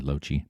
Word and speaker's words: Lochie: That's how you pronounce my name, by the way, Lochie.